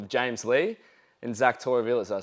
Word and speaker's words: Torrevillas: We have two special guests here on today in the form of James Lee and Zach Torrevillas. Did I say that right? Yeah. Torrevillas. Torrevillas.